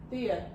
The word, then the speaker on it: Thea: always pronounced your main character wrong Oh yeah, because you pronounce her name Thea. Thea, Mhm. and I read it Taya.